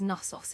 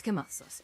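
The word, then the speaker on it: Knossos: You see what's what's there today and and you do pronounce the K on Kosos. A lot of people think it's it's Nasos.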